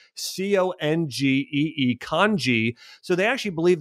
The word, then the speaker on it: congee: They actually called it congee. It's spelled C-O-N-G-E-E, congee.